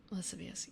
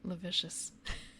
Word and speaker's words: lascivious: Lascivious. Yeah. Yeah, I believe that's the right spelling. So I initially read it as like lavicious.